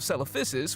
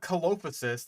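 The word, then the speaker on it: Coelophysis: The first fossils of celophysis were copysis. You even got it with the proper like soft C pronunciation, but it's cuz it's not caloposis like I've heard some people try to pronounce.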